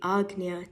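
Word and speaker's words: Ajna: center of your forehead in the west often mispronounced as the AA Shakra in the east it is known as the Agia chakra a spinning wheel of energy of Vortex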